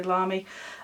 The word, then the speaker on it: Lamy: This is a Lamy, however you want to pronounce it, I would say Lamy, fountain pen, and all